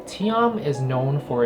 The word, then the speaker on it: TIAM: fun facts about tian with you so tm pronounced tiam actually comes from a persian word that means